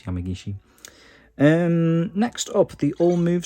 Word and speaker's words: Yamagishi: to saying Yamagishi-san because that's how Corey was pronouncing it. Obviously it's Yamagishi.